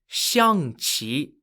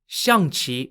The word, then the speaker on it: Xiangqi: for this game is known as shangchi changchi is spelt x i a n g q i xiang chi is widely played in